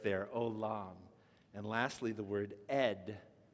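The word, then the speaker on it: עולם: Olam, right? You got the silent letter, ayin, with the vav, so the o, and then the lamed with the lam, closing with the m sound, olam.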